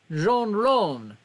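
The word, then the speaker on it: jonrón: paul ronner oh that's spanish for home runs pronounced like jean ron okay all right i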